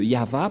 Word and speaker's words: Yahvah: au début, alors que selon les Hébreux, ce terme se prononce ya, Y-A-H, et lorsqu'on va le regrouper avec le va, ça donne, qu'est-ce que ça donne? Nous allons écrire en jaune ya, Yod et He, et va, V-A-H. Voilà le nom de Yahva prononcé par le grand-père Moshe, Ya, Yahva.